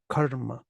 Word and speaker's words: karma: this karma karma karma karma and then the technical thing is just that the first uh lasts longer than usual karma karma Karma Yoga